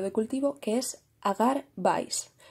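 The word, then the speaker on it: BCYE: cultivo que es agar vice yo digo vice pero se escribe b c y e pero me resulta más fácil de decir y recordar agar vice bien la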